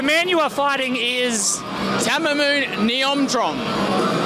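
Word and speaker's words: Thammanoon Niyomtrong: Tamamoon Niomtrom is how you pronounce it.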